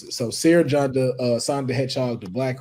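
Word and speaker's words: Cere Junda: Seer Junda. It's Cerejunda. Yeah, I spelled it right. I just didn't know how to pronounce it. So Seer Junda, Sonic the Hedgehog, the Black Ranger, the Mandalorian, Kick-Ass, Kratos, Mario.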